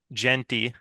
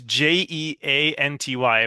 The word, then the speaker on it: Jeanty: Look no further than Boise State Broncos running back Ashton Genty. You're Um, definitely butchering that last name. it's Jeanty, but I'm pretty sure it's pronounced Genty.